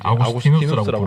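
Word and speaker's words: Augustinus: 아스티누스는 우리 초기 기독교 교리 기초를 놓은 위대한 신학자인데요.이 아우스티누스가 영어 발음을 하면 어그스틴입니다.이 당시에는 라틴를 썼기 때문에 이제 아구스티누스라고 부르는 것이 조금 더 좋겠는데요.이 아구스티누스는 자신의 저서인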